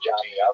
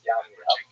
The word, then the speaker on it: Jamnia: So the Roman term for Yavne is Yamnia, sometimes spelled with a J, pronounced Jamnia, but really it's Yamnia.